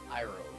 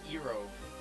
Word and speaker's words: Irove: Irove. Irove, yeah. Isn't that what you guys were calling it the We other didn't day? know if it was Erove. No, it's definitely Irove.